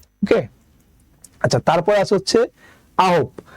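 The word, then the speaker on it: 아홉: সাথে আছে আ, তাই আমরা শুধু আ নিলাম। তারপর আছে হচ্ছে হিউথ, হিউথের নিলাম হ। তারপর আছে ও, ওর জন্য দিলাম একটা ওকার। আর নিচে আছে বিউপ, তাই নিলাম একটা প, বিউপ নিচে বসলে উচ্চারণ হবে প। ওকে, তাহলে এটা উচ্চারণ হবে আহব, আহব মানে হচ্ছে 9।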